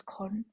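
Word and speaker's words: Kuhn: Argument number four we have paradigms which is con I believe how that's how it's said.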